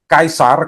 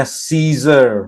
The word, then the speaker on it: Caesar: Kaisar, kalau bahasa Latinnya kaisar, ya. Kalau orang Inggris bacanya Caesar, tapi orang Latin bacanya nggak begitu ya. Orang Romawi bacanya kaisar.